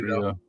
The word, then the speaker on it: mojito: Okay, topped with lemon club soda equals mojito. Is that pronounced mojito or mojita?